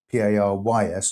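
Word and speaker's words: Parys: Paris, by the way, is spelled P-A-R-Y-S, not I-S.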